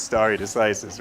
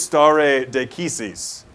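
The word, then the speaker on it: stare decisis: to be Latin but that is definitely not how you pronounce starry decisis right I think it's star a de cassis right to stand with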